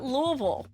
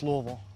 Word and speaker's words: Louisville: Today, we're visiting Louisville, Kentucky. Or is it Louisville? Louisville, not Louisville. It's Louisville.